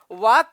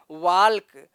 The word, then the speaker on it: walk: और यहाँ पर अगर वाक का उच्चारण करें, सही से यल का उच्चारण करें तो क्या पढ़ा जाएगा, वाल्क। लेकिन ऐसा नहीं है, संस्कृत में मित्रों जो लिखा जाएगा वही पढ़ा जाएगा।